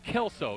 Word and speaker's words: Kelso: Well, it's Kelso, not Klesso.